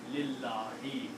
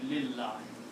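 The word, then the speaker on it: لِلَّهِ: Then we do not pronounce this alif. So the word is now lillahi. We are writing it just like that. We are not even writing the alif here anymore. Okay? We are combining lam with Allahi and we are pronouncing lillahi.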